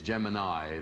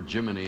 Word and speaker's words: Gemini: to fire I am told to correct my pronuncially pronunciation of Gemini it's Gemini as in whatever you know I was going for Jiminy and I guess it's Gemini you don't want that